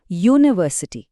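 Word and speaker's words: university: हे बघा उत्तम उदाहरण शब्द आहे युनिव्हर्सिटी स्पेलिंग तर युने सुरू होतं जे एक वॉवेल आहे मग अन लगायला पाहिजे बरोबर चूक त्याचा उच्चार करून बघा युनिव्हर्सिटी पहिला आवाज य चा येतो आणि य हा स्वर नाही व्यंजन आहे म्हणूनच आपण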